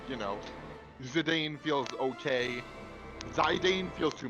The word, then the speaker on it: Zidane: A lot of people are saying Sidan, honey. Zidan. Okay. Not Sidan.